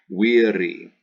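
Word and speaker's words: viri: masculine endings second declension because there's an i pronounced e wery you chop off that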